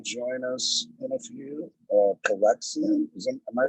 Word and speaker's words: Calyxeum: Calyxeum.